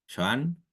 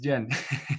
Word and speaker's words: Joan: esto que leyó recién Joan. No sé si se pronuncia así, Joan. ¿Es así lo estoy pronunciando bien? Quizás no. Es Jan. Jan, ok, perdón, perdón.